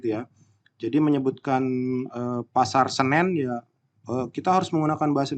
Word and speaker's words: Senen: Jadi menyebutkan pasar Senen ya kita harus menggunakan bahasa Indonesia. Senen itu salah, tidak. Kalau untuk pasar Senen itu nama tempat, jadi tetap disebut pasar Senen, bukan pasar Senin atau pasar Senen.